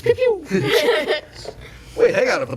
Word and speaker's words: Pew Pew: You pronounce it wrong. It's Pew Pew.